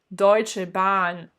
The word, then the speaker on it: Deutsche Bahn: Deutsche Bahn. On a bien le A qui est long puisqu'il est prolongé par la présence du H. Deutsche Bahn.